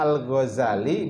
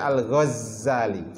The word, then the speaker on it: Al-Ghazali: Bisa dibaca Al-Ghazali, bisa dibaca Al-Ghazali. Jadi dengan takhfif zai atau tasydid zai.